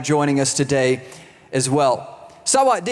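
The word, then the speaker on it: สวัสดี: the word right here this is saat d That's how you say it in Tai it just means hello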